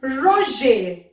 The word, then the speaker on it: ranger: Manger means to eat, and ranger. Ranger. Ranger means to be tidy. Okay. So now j'ai. The sound has been manger, ranger. R is silent. Please be careful.